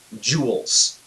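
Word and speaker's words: joule: is measured in works that word is pronounced jewels like you know a shiny thing you might put on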